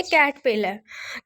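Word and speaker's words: caterpillar: यहाँ पे जो आर है, हम रीड में जो है वो इसको साइलेंट ही कंसिडर करेंगे। इसको हम पढ़ेंगे कैटरपिलर, कैटरपिलर, कैटरपिलर, कैटरपिलर।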